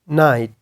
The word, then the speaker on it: knight: इसको नाइट पढ़ लेगा, बिकॉज उसको आइडिया है कि के यहाँ पे स्पेलिंग के अंदर लिखा गया है लेकिन ये साउंड के अंदर नहीं है। साउंड के अंदर क्या है, साउंड के अंदर N से शुरू हुआ है, I और T, नाइट नाइट।